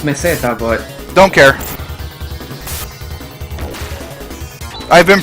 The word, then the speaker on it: Meseta: Pretty sure it's pronounced meseta, but Don't care. I've been pronouncing it Masita since 1996.